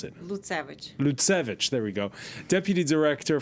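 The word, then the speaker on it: Lutsevych: Well, pleased to welcome, she's normally in London, Auricia Lutsev. How do I pronounce it? Lutsevich, there we go.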